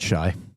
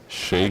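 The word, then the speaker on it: Shai: Uh, we learned that it's Shay, not Shy.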